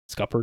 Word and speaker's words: scuppered: Scuppered?